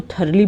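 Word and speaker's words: thoroughly: इसको थरली बोलेंगे, थ्रुवली नहीं बोलेंगे, बहुत मिसप्रोनाउंस करते हैं लोग। थरली, थरली मीन्स पूरी तरीके से, में THR नहीं लगा इसलिए थ्रुवली नहीं होगा, थरली।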